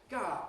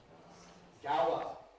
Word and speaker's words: Gower: Ga G. You have to be able to reconstruct Gower Ga Street. But we call it G Street.